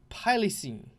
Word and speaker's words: Pylicine: Pilencyn. Pyleneces. Oh, Pylenes. I should... Pylicine is how you pronounce it.